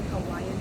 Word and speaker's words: Hawaii: That's how they say it, Hawaiian people, Hawaii.